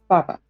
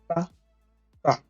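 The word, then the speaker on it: 爸爸: Father in Chinese is baba. Baba. Both of them short tone, meaning tone goes down. Baba. Ba. Ba. Ba.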